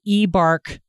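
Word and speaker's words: eBARQ: And I would like you to complete what's called the eBARC survey. And that is spelled E-B-A-R-Q.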